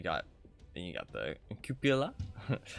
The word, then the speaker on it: cupola: you got the cupola I'm gonna call it the compola because it's just easier for me and other people call it Coppola too but it's not the proper way to say it um but I wonder